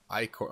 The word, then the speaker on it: ichor: Since a Truple Chalice, I can fill it with magical ichor that's pronounced Icor.